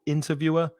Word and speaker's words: interviewer: Interviewer, stress the 1st syllable, interviewer, and interviewee.